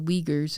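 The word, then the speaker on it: Uyghur: The Weaguers is what we call them. their own word for themselves is kind of unpronouncable in English.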